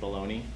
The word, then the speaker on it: bologna: called bologna and then we've pronounced it baloney for some reason right but bologna is a great city